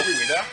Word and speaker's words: Ouidah: Le français qui ne sait pas bien prononcer le mot Ouida, ça vient du mot Ouida.